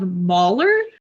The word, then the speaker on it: Mahler: rank E is Gustav Mahler, which is a classical music pun for the ages. So it's spelled Mahler like Maul.